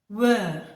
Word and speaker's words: we're: So it will be W-E apostrophe R-E, and it will be pronounced as were.